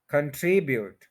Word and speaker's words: contribute: कंट्रीब्यूट गलत है, ये है कंट्रीब्यूट. 3 syllables हैं, सेकंड के ऊपर स्ट्रेस है, कंट्रीब्यूट.